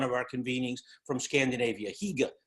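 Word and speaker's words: hygge: our convenings from Scandinavia hega h y g g not I'm pronouncing it properly but Higa basically that sense of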